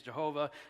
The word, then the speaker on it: Jehovah: text you see there yahoo is the pronunciation of the Tetragrammaton that i've chose that i don't get into fights with people about this some say Yahweh the King James says Jehovah Jehovah look we're talking about four consonants and we're doing the best we can the pronunciation I've landed on is you who us so if you hear